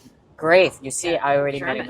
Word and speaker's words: Graeff: Okay, so Melissa Graeff, is that how you pronounce it? Graeff.